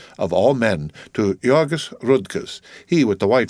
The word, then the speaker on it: Jurgis: had just married and married to jurgis pronounced heogis of all men to yogis rudkus he with the